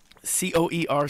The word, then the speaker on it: coerce: the community can't it's the word is coer C OE R CE coer and it's to use